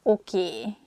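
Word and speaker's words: oké: you like spiders nem this word comes from english probably it's easier for hungarian speakers to pronunciate it that way so we just say a sound a at the end so it sounds okie instead of okay and easiest easyish excuse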